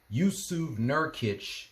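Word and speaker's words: Jusuf Nurkić: Yu Nerkitch, that's how you pronounce his name from the Utah Jazz. Yu Cert Nurkitch needed eight more assists to go with a triple double.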